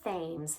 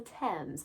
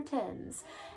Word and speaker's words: Thames: When you see it, you want to pronounce it as Thames. That's not correct. It's the Thames, the River Thames.